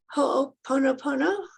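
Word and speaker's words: ho'oponopono: and one of your forgiveness um sessions the ho pono pono i think i'm saying it right yes was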